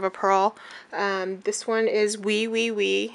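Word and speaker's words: Oui Oui Oui: This one is Wee Wee Wee. It's spelled O-U-O-U-O-U.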